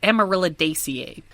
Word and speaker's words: Amaryllidaceae: So, they belong to the family Amaryllidaceae. All families end with the suffix ACEAE, which is pronounced ACA, so Amaryllidaceae.